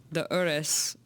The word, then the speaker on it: Urus: when you don't- yes, because they say it like this. They say Udis. It's so beautiful. They say and we just say Urus.